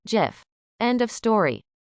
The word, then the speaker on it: GIF: It is a soft G, pronounced GIF.